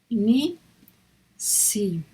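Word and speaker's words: נִסִּי: Esta es una I, Ni, Si. Esta es otra I. Y esta es una Yod, que también se pronuncia como una I. Entonces es Nisi, el señor Nisi.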